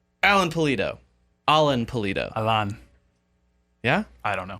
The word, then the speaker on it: Pulido: Alan Pulido. It literally said in the pronunciation, P-O-O.